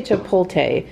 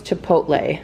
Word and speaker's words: chipotle: now Chipotle I think I say to pull teh and I think that's wrong I think it's Chipotle so I'll try I'll